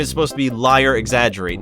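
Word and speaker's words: Liar X. Agerate: It's supposed to be pronounced like liar exaggerate.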